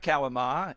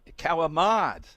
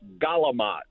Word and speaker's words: Kalamata: He says, not Kalamata, Kalamad. He's with the mod. Kalamad. Phonetically, I'll say it the way I always say it. Galamat with a G. Galamat. Oh, okay. That's the North Jersey way of saying it.